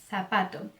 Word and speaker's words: zapato: Na Espanha, ele vai ser pronunciado com o mesmo som do C, com a língua entre os dentes, ok? Como se tivesse a língua presa. Por exemplo, corazón, zapato.